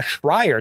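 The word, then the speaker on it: Schreier: followed the handbook yeah the official Jason uh shrier that's how you say it about the failure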